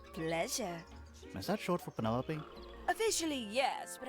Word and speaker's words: Penelope: is that short for penelope officially yes but i never can be bothered with all four syllables of it penelope little ostentatious coming out